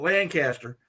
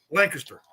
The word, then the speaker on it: Lancaster: Depends on where you're from is how you pronounce it. I've always pronounced it Lancaster, but I guarantee you he'll pronounce it Lancaster. Yeah, because he says it really fast.